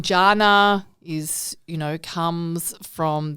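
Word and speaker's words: Janae: Italian name isn't it so actually the letter J does not exist in the Italian language and my name is spelled j-a-n-a-e so people assume it see that because GI in Italian or Jana for Eastern Europe so I'm constantly having to say no it's Jana with a hard J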